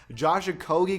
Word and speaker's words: Okogie: Josh Okogie goes +2 from the 76 to a 78.